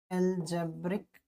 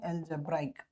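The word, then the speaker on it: algebraic: अलजेब्रिक अलजेब्राइक है ना? सही प्रोनाउंसिएशन होता है अलजेब्राइक।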